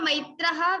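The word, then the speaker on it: मैत्रः: Maitrah, according to rules, there is visarga, Maitraha visarga, so ha sound should come.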